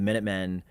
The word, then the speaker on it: Minutemen: They actually, which everybody kind of assumed, it was actually supposed to be pronounced the Minute Men, because they were like insignificant.